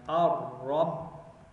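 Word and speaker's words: الرب: and put the Ba, and then we would not pronounce the Lam. We don't put Sukoon there. Why? Because Ra is a sun letter, so we put Shadda. Ar-Rabbu.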